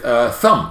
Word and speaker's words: thumb: It was like the silent letters lesson with thumb. You can't hear the B of thumb.